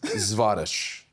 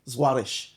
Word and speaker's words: Zwarych: My last name is pronounced Zwarych. Zwarych. It's Ukrainian.